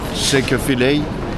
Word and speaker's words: Chick-fil-A: Chick-fil-A. Chick-fil-A. Chick-fil-A. Ça se prononce ainsi.